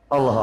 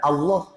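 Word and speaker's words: الله: Ya begitu pelafalannya yang benar. Allah. Ya. Tafkhim begitu. Allah.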